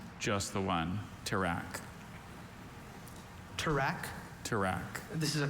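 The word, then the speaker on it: tirak: Alter pronunciations. Just the one. Track.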